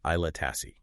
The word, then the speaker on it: Aila Tasse: Aila Tasse, that's pronounced Aila Tasse.